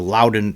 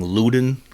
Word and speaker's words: Loudoun: This was from the Loudoun Times-Mirror.